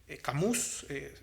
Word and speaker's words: Camus: reflexivo es un autor ateo profundamente albert camus camus se pronuncia a cambio y el autor es recientemente